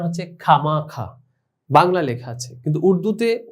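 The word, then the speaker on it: خواہ مخواہ: যেমন তোমরা দেখতে পাচ্ছ খে ওয়াও আলিফ হে, তো এই চারটি বর্ণের উচ্চারণ শুধুমাত্র খ আকার খা হয়েছে, তাহলে এখানে ওয়াওয়ের উচ্চারণ আসেনি। ঠিক এখানে খা মাখা, এখানে ওয়াও আলিফ এর ওয়াও এর উচ্চারণটি আসেনি, খামাখা।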